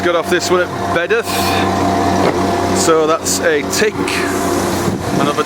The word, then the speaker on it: Bedworth: Pronounced Bedworth, actually.